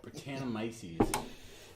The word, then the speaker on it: Brettanomyces: Brettanomyces.